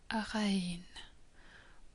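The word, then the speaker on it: غ: Ghain is like a French rolling R, or the R that you can hear in the south of Sweden. At the beginning of a word, Ain and Ghain just lose their tail.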